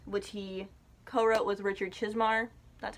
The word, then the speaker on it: Chizmar: Wendy's Button Box, which he co-wrote with Richard Chizmar.